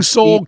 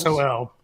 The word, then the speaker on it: Sol: SOL. I know, but for them to say it right, I don't want them to say Sol. Oh, I want them to say right. Soul.